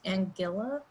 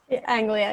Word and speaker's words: Anglia: the environment from the university of east angila am i pronouncing that correct anglia yeah anglia sorry uh she and her